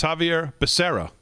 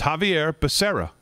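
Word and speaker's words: Xavier Becerra: your gardener joe no it is javier it's javier becerra it's javier becerra is how you pronounce his name and he's going up for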